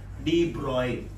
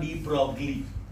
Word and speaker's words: de Broglie: De Broglie. This is not de Broglie.